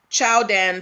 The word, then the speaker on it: Qiaodan: So essentially, this is supposed to be pronounced Chowdan Sports, Jordan Sports, right?